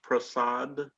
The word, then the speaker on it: Prasad: are you so serbie is your last name pronounced prasad yes it is okay thank you miss